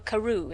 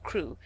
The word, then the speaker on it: Crewe: Madame Pascal pronounced it as if it were Karu instead of crew. But that might be merely a matter of pronunciation.